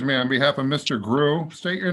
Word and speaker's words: Grew: pronounce that last name my last name is pronounced gru g-r-e-w yes sir okay very